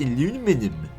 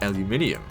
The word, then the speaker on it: aluminium: feel the butthurt from the Americans it's pretty--it's aluminum no it's actually pronounced aluminium because I speak English speak the King's